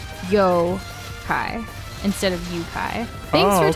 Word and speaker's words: Yokai: which are Yokai not yukai am I supposed to say Yokai instead for like pronunciation oh okay yeah the O is pronounced the same as in go yo hi instead of yukai thanks